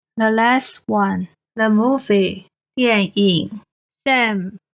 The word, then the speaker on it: 電影: 电脑电脑 Finally, the last one, the movie, 电影 Sam, 电 is the fourth tone. 影 is the third tone. 电影电影 Alright, we finished this series of 注音 pronunciation explanations and exercises.